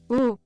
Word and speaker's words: où: Où?